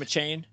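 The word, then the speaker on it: Achane: Is that how you pronounce his name, a Chain?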